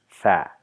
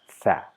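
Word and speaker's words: ثاء: The name of the letter is Thaa. In the same way, we just add a at the end to pronounce it as Thaa.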